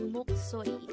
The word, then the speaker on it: 목소리: The Korean term for voice is 목소리. Again, 목소리. This is pronounced as three-syllable word. The first syllable is mok, second syllable is so, and the third syllable is ri.